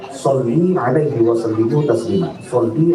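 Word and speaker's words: صلّ: Kata seorang kiai itu, seorang syekh itu, Pak, ini sedikit keliru membaca selawat Pak. Karena dia membacanya sendiri, mestinya dia membaca Sholli 'alaihi wa sallimu taslima.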